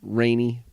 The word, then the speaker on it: Raney: It's pronounced like the weather, like precipitation, rainy, rainy.